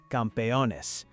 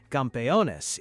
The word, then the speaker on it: campeones: Campeones is what gets chanted by everyone, together, the second that final whistle blows. Campeones, campeones. It's 4 syllables that somehow turn into complete chaos in the best possible way.